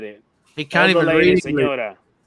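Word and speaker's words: señora: Senora, because of the thing over the N.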